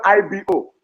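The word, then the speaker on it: Igbo: You call it a is the same word is Ebo or I call Ibo.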